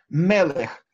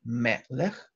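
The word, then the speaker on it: מֶלֶךְ: Мелех – сегулатные, то есть мы слышим тут два «э» – мелех, сегулатные слова, имеют ударение на предпоследний слог.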